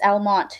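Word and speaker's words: Almonte: Um it's Almont. You don't pronounce the E at the end.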